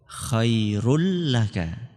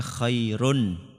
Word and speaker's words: خير لك: Khairul laka. Aslinya kalau panjenengan lihat di Al-Quran tulisannya khairun. Khairun terus apa? Laka. Tapi cara bacanya bagaimana? Khairul laka. Unnya itu dihapus.